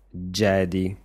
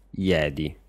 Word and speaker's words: Jedi: dubbio che in italiano le persone dicano Jedi con la g e non Jedi la j viene pronunciata come una g e Normalmente le parole